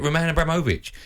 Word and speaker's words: Roman Abramovich: Say his name properly. That's how you say it, Roman Abramovich.